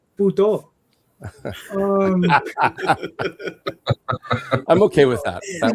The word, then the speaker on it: poutine: You know, with the Franco-Canadians, they pronounce it Poutine. It's very strange, but we pronounce it here puto.